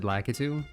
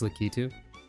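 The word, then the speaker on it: Lakitu: The thing with spiny is that litu, which is how you pronounce that by the way officially. I always said lacatu, but it's litu.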